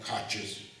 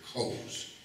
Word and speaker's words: Koch: And by the way, and I appreciate the family that they live right down the river, but you don't call them Koches, they're Coes.